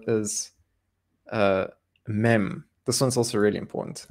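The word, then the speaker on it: מם: have time so the next letter is uh mem this one's also really important and i'm really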